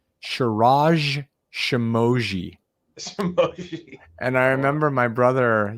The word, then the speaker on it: Shirag Shemmassian: The name is the way it's spelled, the name is pronounced. So I provided the information to them and, the dean or whoever it was, the professor on stage was like, Shirag Shemmassian.